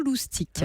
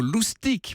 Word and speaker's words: loustic: emploie toujours le mot loustics pourriez-vous pour raconter l'origine eh bien elle raison cette grand mère un joli mot loustics ça s'écrit l aud usd i c est évidemment c'est directement le